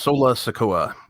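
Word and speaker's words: Solo Sikoa: Sola Sikoa. Cameron Grimes versus Sola Sikoa for the North American Championship.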